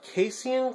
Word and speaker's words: casein: work but this is this is called a casan glue that's how I'm pronounce in it it's spelled c a s e i n and um you know